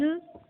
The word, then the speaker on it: œuf: Il arrive que la consonne finale prononcée dans le nom au singulier ne soit pas prononcée au pluriel. Exemple, un œuf, des œufs.